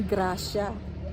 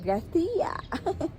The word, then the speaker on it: Gracia: Hindi daw yan ano kasi tayo pag pino-pronounce natin grasya. Wala daw silang ano sound na ganon siya. It's San Jose de Gracia. Gracia.